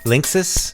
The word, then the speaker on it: Linksys: pronounce that company's name Jeff how do you pronounce that company's name what are you telling mom Linksys Linksys exactly you don't know how to say